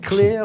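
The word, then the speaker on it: Klear: Is it clear or clear? Clear. Right. Just like clear. There we go. To be clear. To me, it sounds like King Lear. So. Well, that's true. And it's spelled K-L-E-A-R. Okay, So we'll add that for social media.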